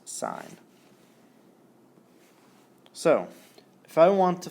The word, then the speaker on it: sin: S is always abbreviated s n but it's pronounced sign so if I want to find the sign